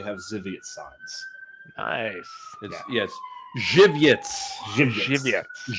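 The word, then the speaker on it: Żywiec: Jiviets. Right. That's how to pronounce it. Jiviets. Yes. Kind of rhymes with giblets.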